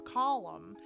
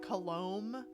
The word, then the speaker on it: Colum: long time ago, and his name was Colum, and everyone tried to call him like Colombe and stuff. Like it was really weird, and it's spelled like column, like it's spelled like a column or like a pillar, but just without an N at the end.